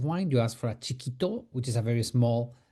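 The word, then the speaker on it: chiquito: Chikito. Chikito. Chikito. How you spell that?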